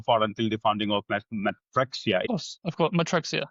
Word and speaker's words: Matrixia: Founder of Matrixia, if I pronounce that right. Yeah, that's right. Yeah, That's right. yeah, Matrixia.